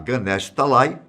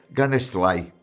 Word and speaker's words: Ganesh Talai: Em vez de falar Ganesh Talai, Saru sempre dizia Ganesh Talai.